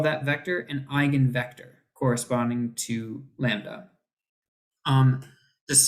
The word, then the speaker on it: eigenvector: it that way but it's pronounced like like gun from your eye like eye gun okay I yeah okay eigenvector eigenvalue yeah okay anyway just in case you're like you're like is that Eagan again no no I